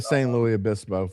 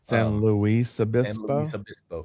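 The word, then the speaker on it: San Luis Obispo: You got you got to say the S. You talk pronunciation because the next the next word starts with the vowel. So, you say the S. St. Louis Abyispo. Yeah. Well, that's that's the rule.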